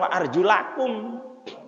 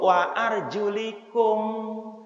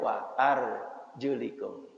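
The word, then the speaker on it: وَأَرْجُلِكُمْ: ketika orang pakai tewel bacanya bukan wa arjulakum wamsahu biruusikum wa arjulikum Advan Hai diikutkan tadi atap kan kepada yang diusapkan di ya ininya diusap Hai palanya ini ya diusap kemudian stylenya juga diusapkan atasnya maka bacanya War juliku Jadi kalau nanti ada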